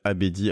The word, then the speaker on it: Abedi: Abedi, A-B-E-D-I. Au moins ça s'écrit comme ça se prononce, donc c'est bien.